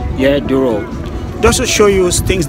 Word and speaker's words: Douro: I want to do a boat ride, yeah, down the river Douro. I think that's how it's pronounced. Yeah, Douro.